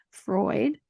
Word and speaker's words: Freud: teachings of Sigmund I can always I always mispronounce his name Freud yes it's just because of the way you